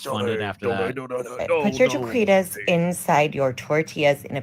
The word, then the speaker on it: taquitos: Taquitas. She said Cinco de Mayo. I can't pronounce anything, Taquitas. and I still know that's fucking jacked up. What would you call these, TJ? Taquitos.